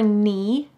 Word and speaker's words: knee: thigh then below your knee notice that the k is silent below your knee is your shin your